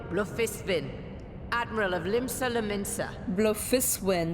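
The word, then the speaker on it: Bloefhiswyn: Blufiswin, that's how you pronounce her last name.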